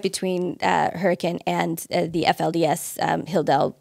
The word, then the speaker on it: Hurricane: for people not familiar it's spelled like hurricane but that's not how it's pronounced um hurricane yeah it's southern utah